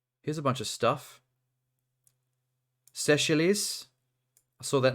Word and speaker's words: Seychelles: Seychelles.